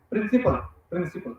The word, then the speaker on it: principal: Actually it is wrong, it is not pronounced like that. Principal, both are same.